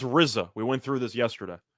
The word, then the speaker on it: RZA: he was absolutely right it's pronounced rizza we went through this